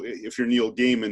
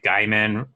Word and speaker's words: Gaiman: I think I was mispronouncing Neil Gaiman's name, like his last name. I think I was like Gaiman is what I originally started with, and then